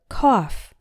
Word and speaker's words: cough: it with my knife ough can also be pronounced like the word off as in the word Koff when you're sick you cough by putting air out